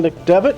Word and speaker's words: McDevitt: First on the ballot in the Democratic party will be Kevin McDit. Is that pronounced right? Debit. It is Devbit. Okay. Kevin McDevitt.